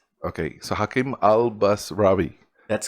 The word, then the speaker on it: Albasrawy: bit of a doozy and most people they pronounce it albaswari okay however it's supposed to go albas rawi okay so hakim al-basravi that's correct thanks for coming here man thanks